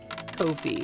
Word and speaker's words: Ko-fi: Ko-fi, which by the way, apparently is pronounced Kofi. It rhymes with no fee.